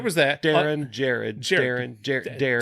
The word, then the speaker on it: Darin: Darren, Two syllables. There's an R in there.